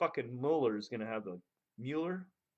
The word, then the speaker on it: Mueller: gonna have the Mueller molar good I said it right I think in my head I was saying Mueller for the whole time then I read a story about him where he corrected someone's pronunciation so Muller has the